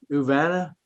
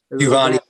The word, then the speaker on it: Uvani: We now stay with the same 15th Judicial District, Judge Frank Uvana. Is that how you pronounce it? Uvana? Uvani. Uvani.